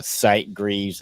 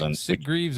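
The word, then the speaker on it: Sitgreaves: in the Site Greavves, I think it's how you say it. National Forest, which is S Greavves or Sight Greavves. Yeah, S Greavves. Yeah, because I guess there's no E in it.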